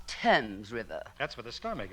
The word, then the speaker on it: Thames: I should probably end it all by leaping into the Thames River. Oh, Mr. Marks, it's pronounced Tempame's River.